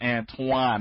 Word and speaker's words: Antoine: There's no W in there, but it's pronounced Antoine.